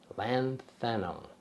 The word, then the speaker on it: lanthanum: And they used that all the way through till the 1980s when it was replaced with lanthanum.